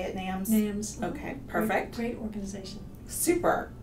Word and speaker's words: NAMS: society nams is that how you say it nams okay perfect great organization super she is also